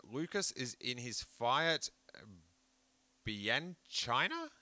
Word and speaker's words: Bianchina: 3 days before his high school graduation, Lucas is in his Fiat Bianchina.